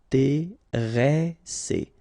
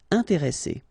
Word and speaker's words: intéressé: And the second thing you should remember is, as we've got double S, so double consonants, so identical consonants, after this the sound that you should pronounce for this is really open, so it's E. Intéressé.